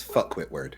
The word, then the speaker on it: Phuket Word: We have Phuket Word. He thinks that Say it right. It's fuckwit word.